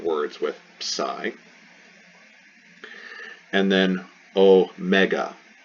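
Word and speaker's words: ω: with psy and then oh mega oh mega so not o mikron we have o mega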